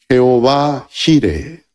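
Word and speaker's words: Jehová Jireh: de Jehová será provisto en hebreo se pronuncia Jehová jire Jehová jire ya nació su hijo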